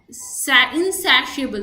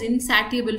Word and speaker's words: insatiable: So many people, insatiable, there's a word called insatiable in the English glossary. So I used to read it as insatiable first.